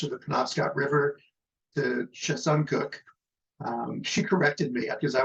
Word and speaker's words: Chesuncook: From the West Branch of the Penobscot River to Chesuncook. She corrected me because I was calling it Chesuncook, and Briar corrected me and said it's Chesuncook.